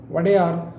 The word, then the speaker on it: Wodeyar: means lord or lordship historical records use the term vader when referring to the dynasty is royal family members the w is silent in more modern kannada